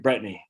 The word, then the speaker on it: Bretigne: brittany shaffer out of los angeles and brittany brittany right brittany yes i just told her i'm from maine we don't pronounce things in maine right it took me